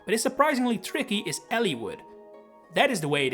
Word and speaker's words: Eliwood: a main lord but is surprisingly tricky is Elliwood. That is the way it is pronounced, but I'm sure there are people out there saying Eliwood or a Leewood.